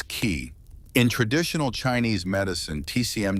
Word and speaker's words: qi: the flow of energy orqi pronounced as key.